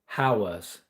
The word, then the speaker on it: Howa: Uh, I build a lot of howas. Howa, that's how you pronounced it.